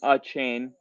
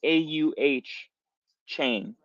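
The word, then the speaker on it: Achane: rabbit hole into Devon a chain that's how it literally on Texas a M's website it showed you how to pronounce it and it was like auh chain anyway I fell in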